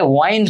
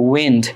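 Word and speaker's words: wind: dancing to দা উইন্ড উইন্ড এটার উচ্চারণ তোমরা অনেকে ওয়াইন্ড করো নট ওয়াইন্ড এটা হচ্ছে উইন্ড সো এখানে বলছে দা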